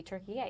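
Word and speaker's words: Türkiye: Uh and yes, in case anyone's wondering, Turkey is the new way to pronounce Turkey.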